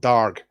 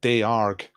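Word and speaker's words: dearg: I've looked up how to pronounce it. I think you pronounce it darg.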